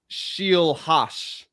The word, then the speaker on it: Scheelhaase: It's Nate Scheelhaase.